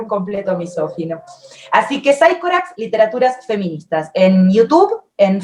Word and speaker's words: Psychorax: llama Psychorax Literaturas Feministas, se escribe Psychorax con Y, así también está en Facebook y así también está en Instagram. Psychorax, con X al final, Literaturas Feministas. Se dice Psychorax, bueno, es un personaje